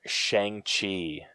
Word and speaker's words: Shang-Chi: All right, last up, we have the trailer for Shang Chi, or apparently, as it's appropriately pronounced, Shang Chi.